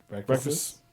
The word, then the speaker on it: breakfasts: Breakfasts. Breakfasts. Breakfasts. I never liked pronouncing the second S, but in that case, gonna have to.